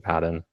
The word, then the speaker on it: Paden: Like what I tell them is like, how do you pronounce instead of P, make it a J, right? What is it? Yeah, Jaden.